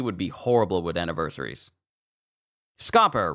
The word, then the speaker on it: Scopper: be horrible with anniversaries scoer rhymes with copper mhm or Chopper scopper